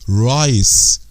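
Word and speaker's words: rice: اللي هي يا جماعه بنخلي حرف المتحرك اللي هو حرف الاي اللي جوه يا جماعه دوت شايفينه اهوت بنخليه ننطقه من هو الشورت نخليه طويل بقول ايه رايس رايس رايس في كلمات طبعا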